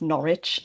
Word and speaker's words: Norwich: Um but ours we pronounce Norwich.